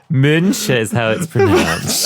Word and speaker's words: Müncher: Müncher is how it's pronounced. And that means it's like Muncher. Munich. Think of it as Muncher.